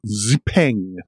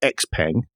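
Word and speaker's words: XPeng: right then the 2024 ziping I think that's how you pronounce it possibly not with quite as much emphasis it's not X Pang but it's a ping uh as you can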